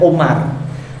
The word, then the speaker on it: Umar: Jadi kalau ain mim ra enggak ada wawunya itu bacanya Umar. Kalau ada wawunya bacanya Amr, paham nggih?